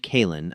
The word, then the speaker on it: Kaelen: Lord Commander, his tactical officer, a scarred veteran named Kaelen, a name vaguely sounding like Colin, but pronounced with a guttural click, reported, "We are dropping out of slip space in 30 seconds.